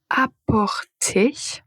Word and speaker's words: apporter: Alors la paire suivante c'est apporter et emporter.